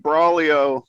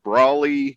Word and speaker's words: Braulio: First name Braulio, last name Thorne. When I was practicing that earlier, hoping you were going to join us, it sounded like I was saying Brawley space Thorne. So Braulio Thorne.